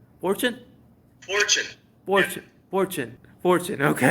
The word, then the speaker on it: Forchione: Is that how you pronounce it? Fortune. Fortune? Fortune.